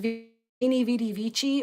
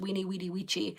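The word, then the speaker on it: Veni, vidi, vici: kind of hard to see, but it says Weenie Vidi Vici, which also is actually pronounced Weenie Weedy Vici, but I think that sounds weird, so I always mispronounce it.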